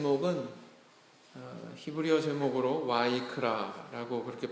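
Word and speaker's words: ויקרא: 있습니다 아 차례 위니의 3 먹은 히브리어 제목으로 와이크라 라고 그렇게 발음을 할 때 그리고 부르셨다 이런 뜻이라고 합니다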